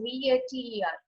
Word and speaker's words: Vater: Noted for Vater, it is V-A-T-E-R, and I'm saying Vater.